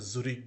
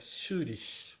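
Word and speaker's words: Zürich: ফাংফুড থেকে ইন সুরি লক্ষ্য করুন আমি কিন্তু এটা জুরি বলি নাই এটা সুরিষ বললাম সুরি সুরিষ বলবেন না সুরিষ ঠিক আছে এভাবে বলতে হবে মানে এটা হচ্ছে জুড়ি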